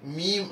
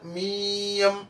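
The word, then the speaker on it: ميم: അപ്പൊ അതിന്റെ പേര് പറയുന്നത് മീം. അപ്പൊ പേരിൽ രണ്ടു മീമുണ്ട്, ഒരു യാ ഉണ്ട്. ഏതിനെ എങ്ങനെ പറയാ? മീം മീം. അപ്പൊ ഒരു ഉം എന്നുള്ളൊരു മൂളൽ ഉണ്ടാവും, മനസ്സിലായല്ലോ. ഇവിടെ നമ്മള് മീയം എന്നുള്ളൊരു സ്വരം വരരുത്. രണ്ട് ചുണ്ടുകളുടെ സിംപ്ലി അങ്ങോട്ട് ക്ലോസ്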